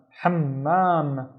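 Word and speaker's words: حمّام: Ham, don't forget to pronounce the M. Ham, and then mam, hammam, hammam. And be careful. It's really important in Arabic for the letters with the shadda to sound like actually two letters.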